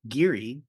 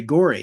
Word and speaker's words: Gorey: Gary Gorey, is it Gorey? I always say Geary, but there's another famous Gary, so I'm probably conflating the two. But I think maybe Gorey.